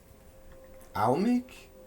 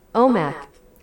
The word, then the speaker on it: Omak: How do we pronounce this? Pronunciation, please. Almec? Wait. Omak. Omak. I'm dumb. That's what I was saying.